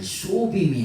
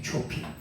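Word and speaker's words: צופים: 그래서 파수꾼인데 초이라고 하는게 아 소빔이 아니고 이건 영어 발음을 비슷하게 발음한 거고 원래는 초핑이에요. 초핑.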